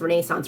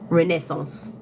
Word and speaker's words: Renaissance: not even joking you Americans pronounce Renaissance wrong it's Renaissance I would love to